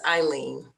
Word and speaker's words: Eileen: pronouncing your name right is it aileen or eileen um it's eileen um hi my name is